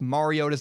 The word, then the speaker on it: Mariota: I want to clarify I know that Marcus mariota's name is pronounced Mariota I have to trouble